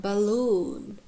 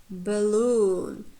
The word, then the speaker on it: balloon: For example, like balloon, balloon. So first syllable is unstressed. It has schwa. Loon. And the second one contains long vowel.